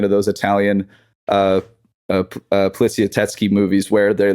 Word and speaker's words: Poliziotteschi: I also want to Poliziotteschi. If you could just dub that over me saying Polizietti earlier, mispronouncing it, that'd be awesome.